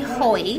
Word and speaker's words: Hoey: is my company or my name is Chloe like enjoy joy but holy yeah yeah now I get